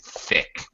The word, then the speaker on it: thick: Be careful of the pronunciation of the TH. Stick out your tongue. Don't be shy. Thin and thick. Yeah. Okay. Thin. And that's thick.